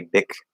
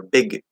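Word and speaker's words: Bic: be big pen or big pen. Normally, we're going to end up stopping or holding the K sound or the G sound, spelled with a C, B-I-C, but it's a K sound.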